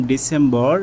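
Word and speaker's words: December: তারপর আমরা শিখেছিলাম ডিসেম্বর। এটা হবে ডিসেম্বর হবে না। এটা হবে ডিসেম্বা। ডিসেম্বা।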